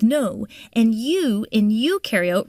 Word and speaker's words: eukaryote: and you and you eukaryote rhymes with do prokaryotic cells have no